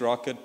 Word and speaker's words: rkt: Docker's a bit easier to get into, but Rocket has a bunch of security benefits. It's made by Koros and it's spelled RKT.